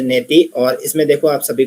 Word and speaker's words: नेति: नेति को जो हमने पढ़ा था ने इति इति करके बोलते हैं। इसका जो प्रोनाउंस है नेति और इसमें देखो आप सभी को पता है कैसे करना है।